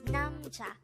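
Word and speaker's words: 남자: Korean term for man is namcha again it's namja this is pronounced into two syllable word the first syllable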